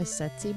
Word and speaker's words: tsetse: A tsetse bite? I'm assuming that first T is silent.